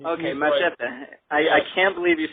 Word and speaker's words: Machete: I think you should say Machete. I think you're right. You can use the correct pronunciation. Go ahead. You can use the Latin pronunciation. Okay, Machete.